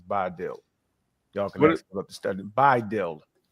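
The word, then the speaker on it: BiDil: y'all can to stud by dild how how did you spell it B uh you would actually spell it b i d i l would you pronounce it by okay thank you go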